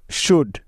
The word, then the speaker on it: should: যেমন ডি এর আগে এল সাইলেন্টের উদাহরণ। যেমন কুড, COULD, কুড। শুড, SHOULD, শুড।